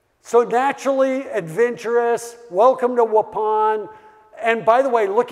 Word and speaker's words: Waupun: Fond du Lac Wisconsin a little town called Waupun the only reason I remember how to pronounce it is because it's like please pass the gray Poupon you know that's how